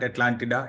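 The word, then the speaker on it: Atlántida: It's officially in English, you call it Atlantis, but Atlantida, yeah, that's also the official pronunciation.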